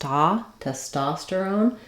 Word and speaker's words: testosterone: rather hor hormone then for testosterone our stress is in the second syllable so that letter O says the a sound test testosterone um again for all of these hormones we still keep our o our clear o at the end some secondary stress there but our first syllable test is not going to be stressed so T testosterone it could even sound